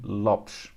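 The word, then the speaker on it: Lopes: not here never fear anthony lopez is anthony lopsh okay uh bruno fernandez is bruno fernandez uh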